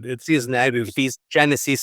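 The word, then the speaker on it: Sise-Neg: say, storyline about I don't know the right pronunciation, Sisineg. Sisineg, we said. Sisineg.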